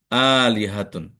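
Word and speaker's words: آلهة: এ শব্দের উচ্চারণ হলো আলিহাতুন।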